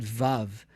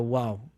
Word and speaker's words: vav: So today we pronounce it vav, like a V, as in vine. But it wasn't that long ago. And there are still people who don't pronounce the vav as a vav, but as a wow, with a w sound.